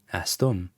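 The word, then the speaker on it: استم: to watch out for which is the um sound an M sound at the end which is what you have with astum I am and you'll hear this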